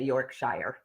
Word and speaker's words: Yorkshire: Yorkshire. All right. Well, So we say Yorkshire.